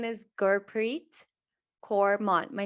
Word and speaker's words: Gurpreet: myself my name is gurpreet cormont my name is my name is actually pronounced god preet preet like pretty and it means god's